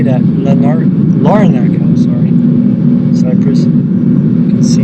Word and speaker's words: Larnaca: Larnaca, sorry.